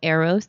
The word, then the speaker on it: Eros: It's EROS. So it's not like the arrows. Not bow and arrows. Not like bow and arrows. EROS. EROS, the series.